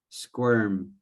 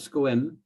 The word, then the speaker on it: squirm: it just 100 correct squirm scrum not squin squirm or neat more er more r more r oh okay okay squirm